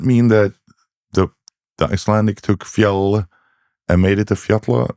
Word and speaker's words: fjall: Because I was like thinking, does that mean that the Icelandic took fjall and made it a fjalla, because that's how you pronounce double L now?